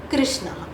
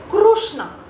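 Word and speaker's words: कृष्ण: And this is the correct pronunciation Krishna. One more version to this. Some people will chant it as Krishna.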